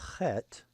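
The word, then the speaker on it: חית: The next letter, Chet, is a sound that isn't found in common English, but there are certain words like lachnes or bach that do have this sound. The sound is in other languages like German, for example.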